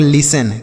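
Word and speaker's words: listen: आधा नहीं बनाएंगे क्योंकि यहां पर बच्चों जो टी लिखा है ना यह साइलेंट होता है इसे नहीं पढ़ा जाता है तो हम एस से केवल स बना देंगे ई स इ ए की मात्रा एन से न ऐसे हम पढ़ेंगे लिसन क्या पढ़ेंगे लिसन पढ़ेंगे ठीक है लिस्टेन नहीं पढ़ेंगे यहां पे टी साइलेंट है लिसन मतलब होता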